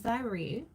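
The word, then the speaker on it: Xyre: His name is Zyre. And it's spelled X-Y-R-E.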